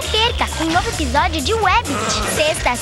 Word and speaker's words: Wabbit: Mas a pronúncia é Webbit, com W.